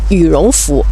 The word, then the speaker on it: 羽绒服: such kind of clothes 我们会叫它羽绒服 we call it 'yurongfu' 羽绒服在中国也是最常见的一种winter jacket 'yurongfu' in China is a common winter jacekt 最后一还有一种它是动物的皮毛